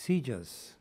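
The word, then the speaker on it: CJIS: justice information services or CJ is pronounced seizures at the Federal Bureau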